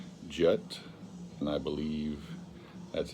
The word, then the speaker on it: Jatt: And it spells out J-A-T-T, but I believe that's pronounced Jatt.